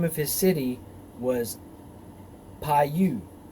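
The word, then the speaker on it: Pau: of his city was pai-you or this pronounced pie and his wife's name was the bell the daughter of matrid the daughter of mezahab verse 40.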